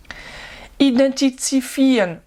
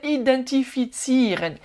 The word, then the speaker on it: identifizieren: Identifizieren, non, c'est l'inverse. Identifizieren. Identifizieren. Pas évident celui-là, il faut bien découper chaque syllabe.